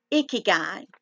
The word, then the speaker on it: ikigai: to talk to y'all about it it's called icky guy and it's spelled i-k-i-g-a-i and it the meaning of of